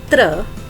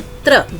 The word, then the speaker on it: त्र: अगला व्यंजन है त्र। जैसा कि आप उसका उच्चारण में ही आपको 2 ध्वनियां सुनाई दे रही हैं, 2 व्यंजनों की, त्र, त, र और उसके साथ में स्वर है अ।